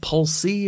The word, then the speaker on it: Polce: foremost uh is your is your last name pronounced is it pulse pulse yep you got pulse okay because it I don't know maybe it's like an Italian thing where I think is that pulsee or pulse say or all kinds of pronunciations